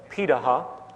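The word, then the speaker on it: Pirahã: the world such as the Paha which is how it's pronunciated uh out of Brazil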